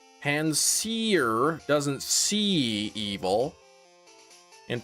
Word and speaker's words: Panseer: Wait, seer has both C and it rhymes with here, so... Pansay, no evil.